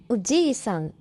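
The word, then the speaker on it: おじいさん: Oji-san means grandfather, but Oji-san means uncle.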